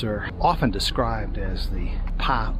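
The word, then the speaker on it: Pak: So the caves are often described as the Pa U caves, spelled P-A-K with a silent K.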